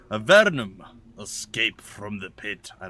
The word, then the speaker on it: Avernum: with our adventures in the land of the verdum see let's say it right a vernum escape from the pit i don't know why